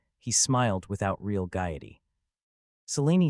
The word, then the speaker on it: Selene: Selene, am I right, Selene? Right, correctly pronounced.